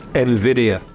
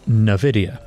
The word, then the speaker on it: Nvidia: There's no debate, it's Nvidia. And yet, many think this multi-trillion dollar artificial intelligence pioneer is called Nvidia. But it's fitting, in a way, because Nvidia, now one of the